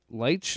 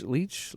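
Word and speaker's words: Leitch: fun uh David uh Lech Leech Lech I can't remember how to say his name. I think it's Leech.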